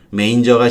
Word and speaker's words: manger: 메인저가 심술쟁이라는 이와의 심술쟁이도 되는 거예요. The dog in the manger. 레인저, 메인저 이렇게 기억하세요. 이 발음 많이 틀리니까.